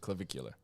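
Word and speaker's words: Clavicular: Um, so I I wanted to talk with you about clvicular. Is that how you pronounce it? I think so. Yeah. Yeah. No. Yes, that is how you pronounce it. Clvicular.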